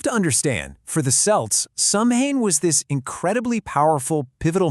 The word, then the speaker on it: Samhain: And by the way, it's pronounced Samhain, not Samhain.